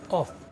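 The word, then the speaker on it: ق: Bismillahirrahmanirrahim Qul huwallahu ahad ini huruf qof qof nih KL bukan Kaf bukan KL ya kalau Kof itu nih ujung lidah pangkal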